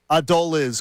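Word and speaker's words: Adolis: Adole is. Adole is. That'll change in a week is the is the pronunciation. Ad doll is Garcia.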